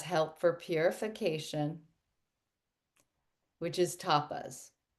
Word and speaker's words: tapas: for purification which is tapas. Tapas. It t a pa is how it's spelled. It's, you know, like the little Spanish appetizers, but it's um that directly translates to the word heat.